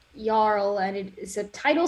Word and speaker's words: jarl: i didn't catch it jarl is pronounced yarl and it is a